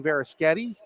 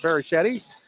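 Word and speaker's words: Varischetti: Johnny varasketti yes folks I did say Veris getty I'll explain that one in a moment his Uncle Frank the offensive coordinator at Brockway high school for football pronounces it very shitty this side of the family very Sketty here's a three-pointer by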